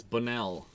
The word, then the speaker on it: Bonnell: Yesterday I was saying it wrong. I was pronouncing it wrong. It's Bonnell. That sounds better.